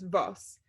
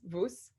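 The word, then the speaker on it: וואָס: yiddish um and so they pronounce the word what as vus and they pretty much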